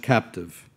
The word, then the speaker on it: CAPTIVE: Comparative Assessment and Performance Tool for Innovative Workplaces, pronounced CAPTIVE.